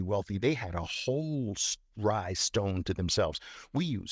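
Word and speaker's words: Rai: massive amounts of wealth, read up on rye stones. It's spelled R-A-I stones.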